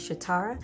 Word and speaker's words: Shatara: as stay calm but yes my name is sha tara my mom got it off of a um 80s cartoon called chitara and the 80s cartoon